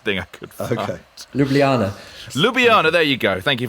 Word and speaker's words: Ljubljana: for the closest thing i could okay ljubljana lubiana there you go thank you very much you know me in a pronunciation that's not my favorite thing uh finally